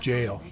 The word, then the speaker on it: gaol: The Irish spelling of the jail is G-A-O-L, but apparently it's pronounced jail.